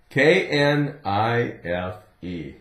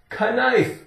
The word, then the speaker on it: knife: cut with a knife if you don't say it correctly kife could I borrow your